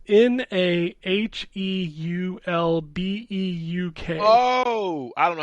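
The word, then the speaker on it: Naheulbeuk: We've got Lifeless Moon, Nahulbeck's Dungeon Master. I can't say that word. Nahulbeck's Dungeon Master. Okay. Dude, it's Nahulbeuk.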